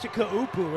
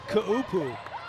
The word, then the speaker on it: Kaupu: That's Kaupu. It's 3 syllables. It's Kaupu. There's 3 syllables there.